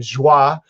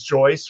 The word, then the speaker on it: Jois: uh actually you know i was pronouncing your name joi because and then i finally got that it's joyce from you um and uh